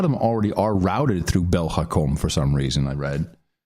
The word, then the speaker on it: Belgacom: Now, I know, or Belgacom is how you would really pronounce it.